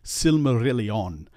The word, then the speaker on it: Silmarillion: And so in words like Silmarillion, it really should be Silmarillion. Make sure you pronounce each vowel with its normal quality.